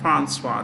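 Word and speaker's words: Françoise: French-speaking people would say Francois.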